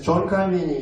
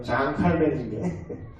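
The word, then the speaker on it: Jean Calvin: 그래서 존 칼빈이 이런 얘기했습니다. 프랑스 사람인데 원래 발음대로 장 칼빈인데 우리는 서구 신학을 또 이렇게 들어와요.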